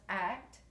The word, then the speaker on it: ACT: analysis acceptance and commitment therapy which is pronounced act and its on values